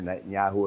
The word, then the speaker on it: Netanyahu: Prime Minister Netanyahu of Israel came out and Hamus has been given a peace treaty also an ultimatum.